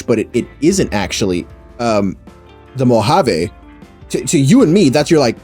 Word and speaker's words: Mojave: Yeah, and I told him, like, oh, that's just Mojave. And she was like, oh, you say it like Spanish? And I was like, yeah. Yeah, you say it like Spanish, yeah.